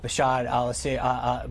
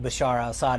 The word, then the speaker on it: Bashar al-Assad: can see a stable and peaceful Syria with Bashar al-assad Bashar side in charge Bashar al-assad I know you mispronounced his name a few times last year mr.